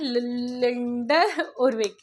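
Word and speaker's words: Lyndall Urwick: एंड लिंडल उरविक अब इसको यह प्रोनाउंस करोगे लूथर गुलिक एंड लिंडर उरविक आप प्रोनाउंस करोगे तो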